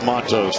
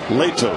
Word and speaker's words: Latos: I've been impressed with this Matos tonight. Latos, excuse me. Matt Latos, I got his name wrong.